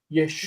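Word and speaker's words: ישועה: It's a feminine word that ends in a full vowel on the end with a reduced first syllable. Yeshua.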